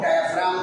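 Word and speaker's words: diaphragm: बोलते हैं, डायफ्राम क्या, डायफ्राम जी साइलेंट है, जैसे एस्मा में टी एच साइलेंट है, जैसे नाइफ में के साइलेंट है ना साइलेंट, ऐसे ही डायफ्राम में जी साइलेंट है, डायफ्राम फ्राम जी लिखो चाहे मत लिखो, स्पेलिंग बोलो चाहे मत बोलो, नहीं बोलना नहीं, बोलना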